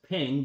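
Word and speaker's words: 苹: In the Chinese culture, the word for apples is pronounced as ping, which also stands for peace.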